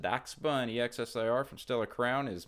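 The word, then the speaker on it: Dachsbun: also up to 2769 a doc spun not Dash bun it's pronounced Dax bun exir from Stellar Crown is moving sideways two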